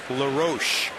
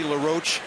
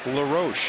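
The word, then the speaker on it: LaRoche: website about it Adam says his name is pronounced lar Ro just like his dad's was Dave but he said if you want to call me L roach that's fine I'm okay either way but he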